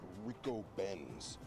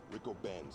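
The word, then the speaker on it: Ricobene's: Apparently the name of the restaurant is pronounced Rico Ben's. Rico Ben's.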